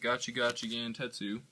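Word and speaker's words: Gachi Gachi Gantetsu: gotchi got Gant tetu yeah that's how you pronounce it gachi gachi Gant tetu for those of you who don't know um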